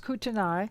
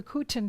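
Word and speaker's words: Kootenai: the kutin that looks like it should be pronounced kutanai but we understand it's the kuten people in washington state and the cherokee in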